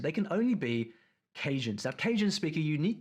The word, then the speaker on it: Cajun: Cajun.